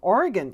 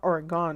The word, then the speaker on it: Oregon: comments working properly and hello from Oregon you see I pronounce it properly it's not Oregon because Oregon's not going anywhere but um I do